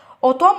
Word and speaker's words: automne: اوتوم AUTOMNE والان هنا مش بتتنطق.